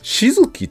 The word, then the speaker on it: 瞳月: ですから a型がねはいでこの静きっていう読み方なんですけど